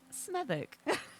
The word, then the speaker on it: Smethwick: This is pronounced Smethwick.